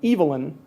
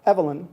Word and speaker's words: Evelyn: he was growing up, she pronounced her name with a long E, as in Eve, rather than a short E, as in Ellen. Thus, Alfred North's spouse pronounced her name Evelyn Wade Whitehead, not Evelyn Whitehead.